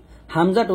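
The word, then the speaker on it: ء: তো হামজা, আইন এবং ইয়া, এই 3টা হরফ আপনারা কিভাবে উচ্চারণ করবেন এই বিষয়টা বুঝতে হবে। হামজাটা উচ্চারণ করতে হবে হলকের শুরু থেকে।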